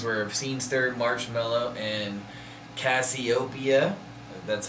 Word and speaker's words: Cassiopeia: three favorite songs were seen stared marshmallow and Cassiopeia that's how you say it and each Trek